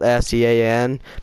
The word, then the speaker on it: Sean: Because C-Nanners is spelled S-E-A-N, but it's actually pronounced Sean, and I'm Sean, and my name is spelled S-E-A-N.